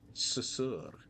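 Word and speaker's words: Sussur: I think we're saying it wrong, I'm not gonna lie. Susur. The susur tree.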